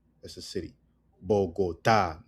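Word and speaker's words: Bogotá: Cafe is pronounced cafe, which is coffee. Bogota. Bogotaa. That's a city. Bogotaa.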